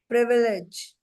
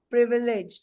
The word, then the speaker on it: privilege: प्रीवी, PRIVILI, sorry, LEGE, प्रिविलेज, प्रिविलेज, ठीक है? PRIVILEGE। Privilege. प्रीविलेज नहीं है वो, आप तो विलेज लिख रहे हो ना, विलेज का साउंड अलग है। इट्स नॉट प्रीविलेज, इट्स प्रिविलेज।